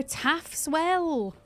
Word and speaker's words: Taff's Well: Taff's Well, it's spelled like this. Taff. Well, there we go.